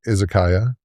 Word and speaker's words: izakaya: And I think I I know it as uh is pronunciation of Isizakaya.